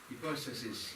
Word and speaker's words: hypostasis: Hypostasis, we're using the modern Greek pronunciation of the Greek words.